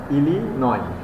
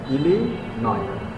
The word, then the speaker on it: Illinois: The spelling is ilo but pronunciation is ilio. Ilinoi Ilinoi. Southern Illinois University Press.